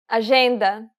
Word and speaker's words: agenda: The letters J and G can sometimes be pronounced like J. It sounds like the S in pleasure.